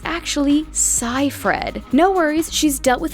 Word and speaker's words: Seyfried: her real name was still a mystery some pronounce it as seyfried but it's actually psy fred no worries she's dealt with it as a